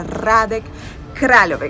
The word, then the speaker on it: Hradec Králové: Se pronuncia Hradec Králové, que es una ciudad que está más o